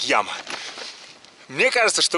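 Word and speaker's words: llama: Две буквы L, A, M, A. Читается как яма.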